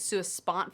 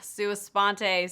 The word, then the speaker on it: Sua Sponte: I this whole time I've been calling it Su spot foundation in fact one of my friends at